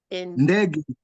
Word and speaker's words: ndege: Indani, Indeji, Ndege. Then G is still coming out as G. It's gay. It's not G. It's ga. So the pronunciation is ndege.